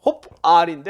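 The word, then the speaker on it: הָפְעַל: 홉알인데, 홉알. 이런 식으로 그냥 대충 발음한 거예요.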